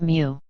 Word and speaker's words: mu: designated by the lowercase greek letter for m pronounced mu there are 1000 microns